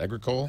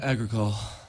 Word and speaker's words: Agricole: How do you pronounce that? Agricole? Agricole.